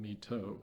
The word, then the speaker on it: My Tho: It's near a Vietnamese city, My Tho, which we called My Tho. It's spelled T-H-O, but I didn't know how to